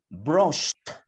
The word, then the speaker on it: brushed: ¿Cómo vamos a pronunciar? Sería brushed.